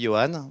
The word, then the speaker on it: Johannes: Donc, moi, alors, ça s'écrit Johannes, mais ça se dit Johan, voilà.